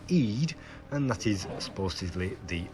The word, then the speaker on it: id: and small d, and according to one person it is pronounced Eid, and that is supposedly the unconscious part of the mind related to wildness, gratification and irrational behaviour.